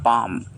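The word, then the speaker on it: palm: ये हमारा last word है पाम। इसे पालम नहीं पढ़ते हैं, इसे पाम पढ़ा जाता है क्योंकि इसका एल जो है साइलेंट होता है और इसके मायने है हथेली, हाथ की हथेली।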